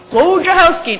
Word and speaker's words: Wojciechowski: Wojciechowski, just like it's spelled.